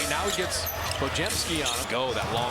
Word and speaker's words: Podziemski: It's pronounced Podziemski.